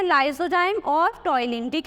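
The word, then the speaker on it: ptyalin: यहाँ पर P silent रहता है, इसीलिए इसको ऐसे लिखते हैं टॉइलिन।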